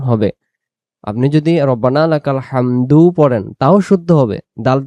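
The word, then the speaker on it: ربنا لك الحمد: করব রব্বানা লাকাল হামদ এখন এই শব্দটা আমরা অনেকেই ভুল করি আমরা পড়ি রব্বানা লাকাল হাম পড়ি শুধু রব্বানা লাকাল হাম রব্বানা লাকাল হাম যদি রব্বানা লাকাল হাম হাম পড়ি তাহলে এখানে এ দাল অক্ষরটা যে দেখা যাইতেছে দাল অক্ষরটা তখন বাদ যাবে।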